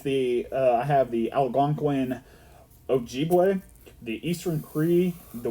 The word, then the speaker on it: Algonquin: Yeah, the only reason I know that is I have a cousin that used to live on Algonquin here, and that's how you pronounce it, Algonquin.